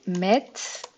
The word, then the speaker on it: mettent: Ils mettent. Elles mettent comme d'habitude. Le ENT ne se prononce pas.